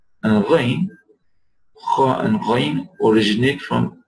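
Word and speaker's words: غ: Kha and Ghain. Kha and Ghain originate from Adna al-Halq. Basat al-Halq. Aqsa al-Halq. None of the mentioned. Kha and Ghain. Kha. And Ghain, and you should try to pronounce these letters.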